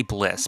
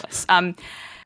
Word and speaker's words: BLSS: or call me blss i say bliss because it's one syllable i like that i like that better more people just call it bless so coenzy is spawned